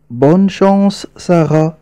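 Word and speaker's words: bonne chance: مكتب مكتب مكتب البريد ننتبه جيدا لطريقه نطق ننطقها هكذا ساره بون شس بون شس بون شس س بون شس اي حظا طيبا يا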